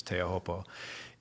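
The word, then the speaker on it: Teahupoo: reason is because of teahopal you know some people refer to it as tropu or you know the I think the proper pronunciation pronunciation is teahopo and it's because it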